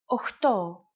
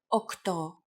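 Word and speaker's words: οκτώ: Sometimes, though, especially in casual conversation, Greeks also use efta instead of epta, ochto instead of okto, and ennia instead of enea.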